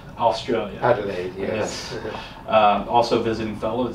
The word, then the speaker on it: Adelaide: You'll have to help me with the pronunciation here. Adelaide, Australia. Adelaide, yes.